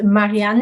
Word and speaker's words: Marianne: My name is Marianne, and it's actually pronounced Marianne the German way, kind of a bit of a giveaway, but I'm not German.